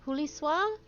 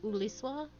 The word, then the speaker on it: Julius: That is not Huliswa? Probably. He will be able to tell you about this said aetherite among other things. I bet the H is silent, so it's like Uliswa?